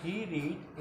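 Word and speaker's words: read: जैसे रीड हो जाता है रेड और रेड, तो क्या हो जाएगा, ही रेड ए बुक, उसने एक किताब पढ़ी।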